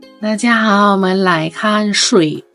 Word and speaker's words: 水: ก่อน เรา ซือ เป็น คน นึง ที่ ออก ว่า สุ่ย แต่ จริง ๆ แล้ว ไม่ ใช่ ถ้า ใคร ยัง รู้ สึก ว่า เฮ้ย ตัว เอง ยัง ไม่ มั่น ใจ กับ คำ นี้ ว่า จะ ออก เสียง ยัง ไง ใช่ ป่ะ ให้ ทุก คน ห่อ ลิ้น ซื่อ อุ้ย สุย เอ ซื่อ อุ้ย สุย ลูก ป่า มัน จะ ต้อง เป็น อย่างี้ สุย กับ สุ่ย สุ่ย